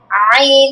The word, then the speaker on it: ع: হা, আইন, তুমি এটা বারবার বলতে বলতে দেখবে যে হয়ে গেছে। হ্যাঁ, তুমি এটা মাথায় রাখবে যে এটা কোথা থেকে উচ্চারণ হবে, গলার মাঝখান থেকে।